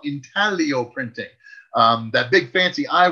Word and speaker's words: intaglio: of something we call intaglio printing. That big fancy I word that's on the screen there. The G is silent. It's pronounced intaglio.